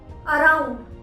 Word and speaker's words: around: अराउंड, spelling है AROUND, अराउंड। हम आर को प्रोनाउंस करते हैं क्योंकि आर के बाद हमें वॉल साउंड सुनाई देती है। कौन सी साउंड सुनाई दे रही है? ओ की, और ओ एक वॉल साउंड है, अराउंड, इसीलिए